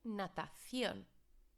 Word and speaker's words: natación: Remember, there's our CE, so it's pronounced like a T-H-E sound, and I've highlighted as well the theon, because there's lots of mispronunciations with this word as well, because students have a tendency to say shun again.